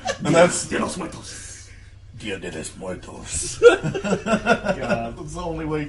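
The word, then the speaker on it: Día de los Muertos: If it's Spanish, you have to say it like Danny Trejo.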